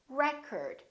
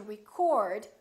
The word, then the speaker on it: record: another word this word if it's a noun it's pronounced as record the first syllable is stressed record this OH changes